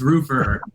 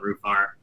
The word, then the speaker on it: Roofr: that's my first question it's tomato tomato it's roofer uh but it's it's like honestly tomato tomato a lot of people call it roof r uh it's techie without the e right so